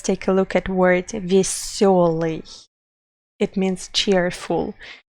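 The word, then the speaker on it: весёлый: For example, let's take a look at word веселый. It means cheerful. You can see that usually we write it with letter ye, but we pronounce it with letter yo because we know which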